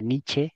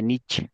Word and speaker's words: Nietzsche: es que su nombre se pronuncia nietzsche así con la e al final porque es en alemán aunque normalmente se dice nich no porque es la